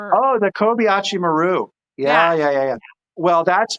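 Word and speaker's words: Kobayashi Maru: Uh, I wrote it phonetically. I don't know if I spelled it right. Is it co Kobayashimmer? Oh, the Kobachi Maru.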